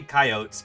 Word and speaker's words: coyote: the proper pronunciation of coyotes coyotes coyotes cootes tomato potato you know I say kyotes because my mentor at Berkeley said coyotes and that's because she